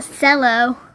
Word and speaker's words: cello: oh hmm to the cell oh look at this fellow it's pronounced cello but I wish I